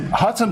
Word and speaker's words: Hotone: He's pronouncing Hotone in the right way because we trained him earlier. He was saying hot one, that hot one. And we teach him it's not hot one, it's not whole tone,